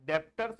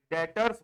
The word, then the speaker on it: debtors: इसके बाद ध्यान से समझना, डेटर्स, ये इसका बी साइलेंट होता है ना, डेप्टर्स नहीं बोलेंगे इसको, क्या बोलेंगे, डेटर्स बोलेंगे, DEBTORS।